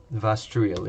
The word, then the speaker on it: Vastruil: Yeah, Vastruil, yeah. So that's how you pronounce it.